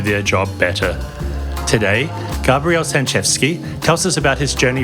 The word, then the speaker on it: Sanchewski: It's Sanchevsky. Written out, it's actually meant to confuse English speakers and Polish speakers, because if you read it in English, it looks like Sanchewski.